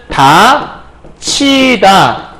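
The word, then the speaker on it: 닫히다: 바뀌면 되는 건데 요 디귿과 히읗이 만나면 티읕이라는 글자로 바뀌게 돼요. 그래서 가면 다 티다가 되거든요. 그런데 우리가 아까 뭐라 했냐면 티읕이 이를 만나면 치읓으로 바뀐다고 그랬죠. 그럼 결과적으로는 다 치다 이거 발음하면 다치다 이렇게 발음하게 되는 거잖아요.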